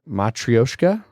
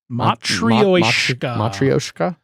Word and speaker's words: matryoshka: to pronounce matroyshka uh is how we were saying it is uh more of a matryoshka matrioshka um depending on how much of a russian accent you want to throw